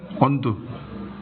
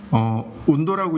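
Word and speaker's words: Undo: 그리고 넥스트 포인트, 다음 점 또는 언두. 온도라고 읽으시면 안 돼요. 온도 아닙니다. 언두.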